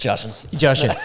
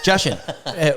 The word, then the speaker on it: Jashan: Just Jashan. Jashan. What is it? Russian with a J. Yeah. I say that. And people are like, oh, how do you pronounce it? It's like Russian with a J.